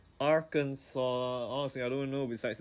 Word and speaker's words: Arkansas: I just know that the S is silent, just like the T in my name.